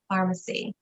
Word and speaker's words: Farmasi: It sounds like pharmacy like CVS, but it's not.